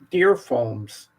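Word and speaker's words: Dear Foams: And this is Deer Foams, but it's spelled DEAR.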